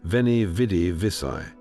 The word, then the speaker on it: Veni, vidi, vici: The V was pronounced more like a W, so Veni became Veni.